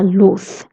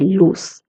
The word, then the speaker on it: luz: This word has a Z, and if you remember, I told you Z is pronounced as th. So la luz, light. If you're in Latin America, you can say luz.